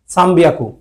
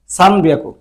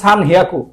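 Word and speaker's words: 三百: দেখেন, হওয়ার কথা হলো সান হিয়াকু। 300 ধরেন 300টা 3 গুণন 100, 3 মানে হচ্ছে সান, এটা মানে হচ্ছে হিয়াকু, হিয়াকু। তো হওয়ার কথা ছিল সান হিয়াকু, ওরা কি করছে একটু ব্যতিক্রম রাখছে, এটা 3 দিয়ে দিছে।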